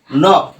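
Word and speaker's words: knock: পড়ছে রাইট নাই তারপরে দেখো তারপরে কি আছে নক এটাও কিন্তু আমরা অহরহ ব্যবহার করে থাকি দেখো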